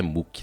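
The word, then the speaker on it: MUCC: Os fãs ocidentais de bandas mais críticas e ácidas, como Caligari e Muck, M-U-C-C, eu não sei se a pronúncia correta é Muck, na verdade, começaram a utilizar o termo como uma descrição do gênero em que a banda se encaixava.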